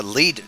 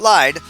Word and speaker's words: Lied: So, the last episode we talked a little bit about the lead jungle. That's correct. Lead, not lied. I've been saying it wrong this entire time.